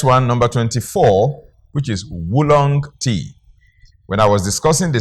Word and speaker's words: oolong: It's as if you're pronouncing as wu woolong.